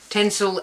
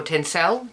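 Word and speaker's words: Tencel: So, this is Gohandmade tensil and bamboo. The tensil or tensel depends on how you want to pronounce it. I say tensil. I might be wrong.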